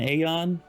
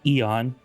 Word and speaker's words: Aeon: Now, unless you're an Aeon, or I guess Eon, as they say in the DLC, I guess I've been pronouncing it wrong for the last 8 months. But anyways, Aeon, Eon, whatever.